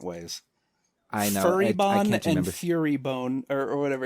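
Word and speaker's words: Furibon: Um I I know it's fury like angry, but I don't know if it's bone or born or bon. Fury bon.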